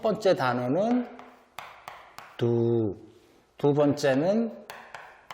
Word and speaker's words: ดู: 그래서 발음은 보다, 두, TV 발음을 조심하셔야 됩니다.